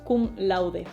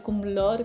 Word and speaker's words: cum laude: Y tenemos por ejemplo kum laude Vale y lo pronuncio así kum laude porque es latín y se pronuncia más a lo español que a lo inglés así que puedes ir kum lord kum lord c lo